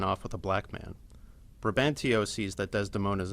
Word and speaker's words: Brabantio: At first, ব্রোবান্টিও অর ব্রোবানশিও, এরকম বিভিন্ন রকম ভাবে উচ্চারণ করা হয়।